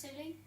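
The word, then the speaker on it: Scilly: Isles of silly was is it pronounced silly yeah um but I was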